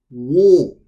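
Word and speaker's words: を: Next one we have is wo, wo, wo, wo. Or it can be pronounced as o, o. So wo or o, wo or o, wo or o.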